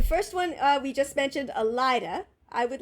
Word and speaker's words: Elaida: That's how you Elida? pronounce it.